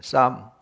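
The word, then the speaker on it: psalm: 쌈. 앞에 P는 묵음으로 이제 처리해버리고 이제 쌈.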